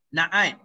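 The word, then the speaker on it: نعت: Na'at. Na'at ni sama. Ejaan dia na'tu ya, tapi sebutan dia na'at. Sebab kita matikan.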